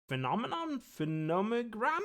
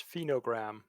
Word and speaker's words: Phenogram: as for that word you couldn't pronounce, it's phenogram.